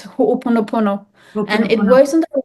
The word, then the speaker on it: Ho'oponopono: Hupanon. I can't say. Okay, it's a very old healing way. It's a practice. It's Ho'oponopono.